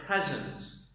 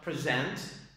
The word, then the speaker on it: present: Okay, so present, present, present, present. The stress here is on the second syllable because it's a verb, and here the stress is on the first syllable because it's a noun.